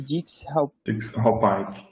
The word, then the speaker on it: Dix-Hallpike: Essa manobra, como mesmo que é a pronúncia, já que você tinha citado? É manobra de Dix-Hallpike.